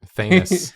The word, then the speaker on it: Thanos: Thanos.